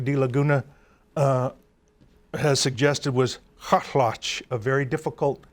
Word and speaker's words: Kaalaxch: I'm with Joe Hotch, and he's going to pronounce for me the name of the Chilkat leader. Kaalaxch. Kaalaxch.